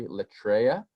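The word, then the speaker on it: λατρεία: This word, and it's the Greek word is pronounced, as you can see, latreia, and it occurs 4 other times in the New Testament.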